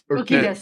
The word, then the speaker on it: Urquidez: Urquidez. Urquidez, Okay. I guess. Benny the Jet is the thing. Yeah, Benny the Jet Urquidez. Urquidez. Urquidez, Ben- yeah.